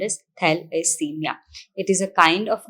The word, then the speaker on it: thalassemia: today we are talking about thalassemia which is pronounced as thalassemia it is a kind of anemia which is